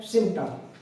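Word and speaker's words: symptom: क्या बोल रहे हैं, सिम्टम।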